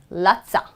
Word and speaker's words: lotsa: of love for you, instead of saying lost of love they're gonna say lotsa are lotsa I've got lotsa money. I need lotsa money, lotsa okay, you would hear the word cuppa, what do they mean?